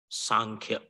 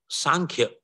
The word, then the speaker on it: Sankhya: sanke philosophy song here can be pronounced with n or M sankhya or Sam incidentally both pronunciations make sense when you pronounce with n sankhya or sankhya it refers